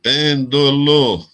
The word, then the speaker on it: pêndulo: Se a sílaba forte fosse no do aqui, seria paroxítona. Se fosse no lo aqui, seria oxítona. Mas é proparoxítonas. A sílaba forte é na antepenúltima.